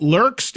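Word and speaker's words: Lerxst: Tell me I'm pronouncing it right. Is it Lurks?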